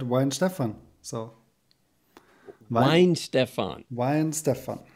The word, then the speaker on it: Weihenstephan: worst so how is the right way to pronounce the name of your brewery yeah you did it pretty good so you said why in stefan so mine stefan wine stefan right well why